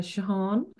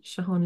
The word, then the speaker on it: Jehane: with me so my Instagram account is uh shahan limited so if I just spell that for you because it's a little bit difficult name so it's j e h a n e MH _ LTD shahan limited that's my Instagram and my name if